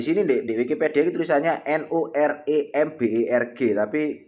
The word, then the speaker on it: Nuremberg: Itu Nuremberg, Jerman, dalam bahasa Jerman disebut Nuremberg ya.